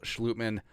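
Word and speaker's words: Schlottmann: by the way, Brian O'Neill, and then Brandel, Schlutman, the Dutch pronunciation, Chris Reed, and Jesse Davis as your 9, and then Oli Udoh, maybe Vidarian Lowe on the practice squad.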